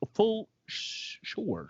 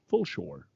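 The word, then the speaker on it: Fulshear: outside of houston in full sure pronounced full shore sure full shore uh driving a 2018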